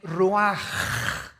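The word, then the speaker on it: רוח: versículo 29 y exhaló Isaac Qué cosa el ruaj que se escribe r u a c h ruach en el hebreo y se pronuncia igual ruaj Aquí vemos que al morir dos personas diferentes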